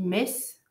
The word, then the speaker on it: Metz: Pour Metz, on dit Metz. Nancy, tu prononces pas le deuxième N à l'américaine.